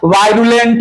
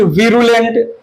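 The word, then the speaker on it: virulent: वायरुलेंट, विरुलेंट pronunciation जो करना चाहो कर लो।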